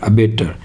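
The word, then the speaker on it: abattoir: है स्पीकिंग के अंदर irorn को प्रोनाउंस नहीं किया जाता ठीक है तो ये जो आर का प्रोनाउंस नहीं होगा आर की जगह ए की साउंड आएगी तो साउंड आएगी इसकी वैसे बोल देते हैं ए बी A double T ओ आई आर एबेटर इसे कहते हैं बूचड़खाना यानी की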